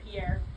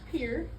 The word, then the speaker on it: Pierre: So, the pier shell, which by the way, I know it's spelled Pierre, it's actually pronounced pier because we're in the Midwest and things are weird.